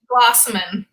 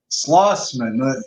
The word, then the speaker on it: Schloessman: Schloessman. Schloessman, the way it's spelled.